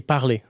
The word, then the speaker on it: parler: Last thing is that the final consonant, you do not pronounce them. So like, when you say speak, we say parler, but it's written parler with an R at the end. You don't pronounce the R.